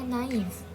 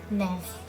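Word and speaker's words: naïf: Nah, naif yang menggunakan aksen trema ini dibacanya naif. Naif. Sedangkan kalau dia nggak menggunakan aksen, dia dibacanya menjadi nef. Nef. Beda banget. Kenapa beda? Karena dalam bahasa Prancis A ketemu I itu dibaca E.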